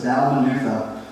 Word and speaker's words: Dalmanutha: to the district of Dalmanutha. Yeah, sometimes even the pastor gets confused by how you pronounce some of those wild words, right? But it's Dalmanutha.